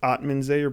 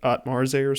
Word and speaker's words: Atmanzayer: It was Atmanzayer, but he pronounced it Atmarzayer.